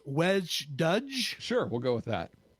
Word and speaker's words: wej Duj: is in kingon and I think it's pronounced wedge ddge sure we'll go with